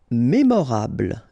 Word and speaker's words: mémorable: Mémorable, don't insist on the final E, mémorable.